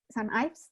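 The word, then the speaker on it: St Ives: St. Ives, this is how you pronounce it?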